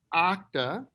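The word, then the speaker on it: Okta: is interesting the name of the business is pronounced octa and for those of you who are curious octa is a type of cloud and it should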